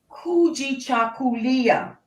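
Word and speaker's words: Kujichagulia: along with umoja unity the second one is kuji chakulia chakulia i will spell that for you k u j i c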